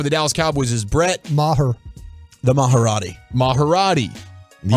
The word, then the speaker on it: Maher: are we a Brett Maher show or are we a Brett Marr show we're at Mar because I think our